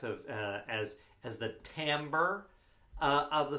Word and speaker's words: timbre: uh as as the timbre uh of the sound it's actually spelled t-i-m-b-r-e uh but it's pronounced the timbre uh and we also